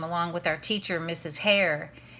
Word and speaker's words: Hare: hare that's a strange name it's spelled like the rabbit har e and two teacher's assistants